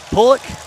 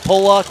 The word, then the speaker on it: Pollock: Big Daddy, car number 88 from Pullock, South Dakota. I said it right. I called it Pollock once, and I got yelled at for days. It's Pullock, South Dakota.